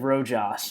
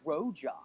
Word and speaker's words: Rojas: If you can get Tejada right, you can get Rojas right. It's the same thing. A silent J. You pronounce it. Okay, That's whatever. what- If you said know one, you Rojas? Okay, I've had enough of this school lesson. If you know one, you should know the other. They're the same thing. I've had enough of this. They're both pronounced with the H.